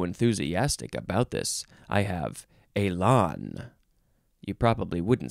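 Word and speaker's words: élan: pronounce in this episode Elon yes Elon e-l-a-n Accent on the first on the E goes Elon noun from 1864.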